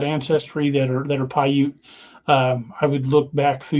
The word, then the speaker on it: Paiute: to spell the name of the tribe it's pronounced Paiute oh the you know the Paiute from Ohio Valley region I believe if I remember correctly it's it's p-i-a-u-t-e I'll put that I believe that's p-a-i-u-t-e is what I've got yeah that's what I